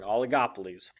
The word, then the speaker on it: oligopolies: going to focus our entire time simply on oligopolies that's how you pronounce it by the way in case you're wondering oligopolies an oligopoly contains only a few firms products